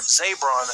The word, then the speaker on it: Zabron: Apparently, he was watching from his hotel, so the ex-boyfriend, or Zabron, that's how you say his name, he went on Twitter